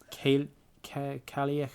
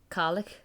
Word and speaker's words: Cailleach: I would guess like Cailleach, and then the BH is like a V sound in Irish. The, okay. But, you know. So, Cailleach the.